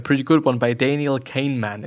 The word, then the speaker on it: Kahneman: good one by Daniel Kahneman. It is Daniel, like Daniel, and Kahnemann, or Kahneman, as if you would be pronouncing it in German, actually.